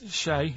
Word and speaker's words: Che: Che is like shake, and his surname is like guitar.